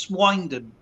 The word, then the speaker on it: Swindon: from a pig farm, so that's why it's actually pronounced Swindon. Oh, SWIN, because obviously all the pig farms around here.